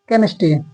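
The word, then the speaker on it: chemistry: silent कब होता है जैसे यहां देखो सी एच ई एम आई एस टी आर वाई यहां पे केम केमिस्ट्री केमिस्ट्री तो यहां पे एच साइलेंट है यहां पे टेक्नोलॉजी तो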